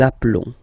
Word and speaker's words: appelons: Okay, final s doesn't exist. Nous nous appelons.